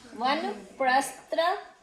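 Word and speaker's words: वानप्रस्थ: Wait, can you pronounce it again? Vanaprastha ashram.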